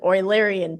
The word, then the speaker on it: Eulerian: pronounced oiler oiler and so this is an oilerian path so it's pronounced like oiler Um I don't want I don't remember what nationality he was.